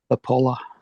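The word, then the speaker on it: Popoola: That's how you say it's P O P O O L A is his last name. Apollo or Pollo? Apollo.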